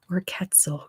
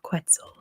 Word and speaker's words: quetzal: it it's the quest so quetzal quetzal same same thing different pronunciation you should have to